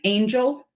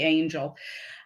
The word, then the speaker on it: Angell: thursday puzzle but also he says the second l is silent thank you for that